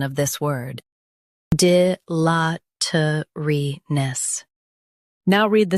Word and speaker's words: dilatoriness: Both US and UK have the same pronunciation of this word, DILATORINESS. Now read the syllables shown on the screen naturally. D, la, t, re, ness, DILATORINESS. Stress LA and keep T light.